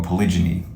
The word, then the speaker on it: polygyny: you tell them that polygamy or polygyny cuz that's really how it's pronounced uh you tell them